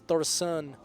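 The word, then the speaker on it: Thaurissan: win the game there's thorian Thor's good it it you know thoris or thorian thoris thoran th there's no extra I a oh okay but yeah it is thoran I just suck at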